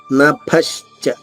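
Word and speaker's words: నభశ్చ: మూడవ చరణము నపశచ్య పృథివించైవ నభశచ భ మహాప్రాణము దానిపైన ఆఘాతం ఉంది దాని తర్వాత శ దానికి సంయుక్తంగా చ రెండు అక్షరాలు ష ముందు రెండు షల్లా పలికి నభచ నభశచ కొంచెం గాలి నాలిక పైనుంచి వదిలేసి మూసేస్తే చ వస్తుంది.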